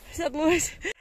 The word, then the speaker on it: Saddleworth: Can you ever pronounce that name properly? Saddleworth.